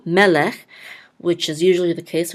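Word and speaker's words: מֶלֶךְ: This shava again is silent, so this is lech, melech, and the accent mark is on the first syllable, melech, which is usually the case when there's 2 sagols next to each other.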